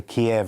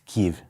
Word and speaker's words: Kyiv: The Russian is Kiev. It's Kyiv. Kyiv. Yeah. Kyiv.